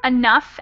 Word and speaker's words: enough: notes on pronunciation here these Oh ugh words are actually they sound like they're they end in an F so that's tough enough and rough and then this family